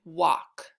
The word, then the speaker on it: walk: example of a word where al says ah the L is silent my turn your turn walk on the next slide